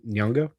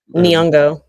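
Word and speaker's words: Nyong'o: Nyongo. Nongo. Niongo.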